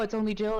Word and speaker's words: itsonlyjill: it's only Jill, or then Blue's like, no, you're saying it wrong. It's only Jill. And I was like, actually, that's you're saying it right, yeah, because it's only me. Like, I'm not a big deal. Like, eh. And I was like, good for you. You're the first person to say it right.